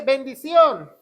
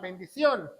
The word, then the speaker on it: bendición: Número dos, vamos a ver de bendición. Eso es muy importante. Bendción con acento en la o bendición.